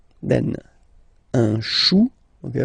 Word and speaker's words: chou: Then, un chou. Okay, remember, when you combine this C and H, you get the sound sh. Chou, un chou.